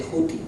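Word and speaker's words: Djehuty: Pero el dios Tot se representa así, y se pronuncia de Juti o de Yuti.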